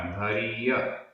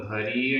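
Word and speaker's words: भरिय: कतक कतक फल भरीय भरीय, रा में छोटी की मात्रा भरीय, निम्मल निम्मल, आधा मा पूरा मा, निम्मल, जलम जलम। ये पूरा एक समासित पद है। कतक फल भरीय निम्मल जलम, कतक फल भरीय निम्मल जलम।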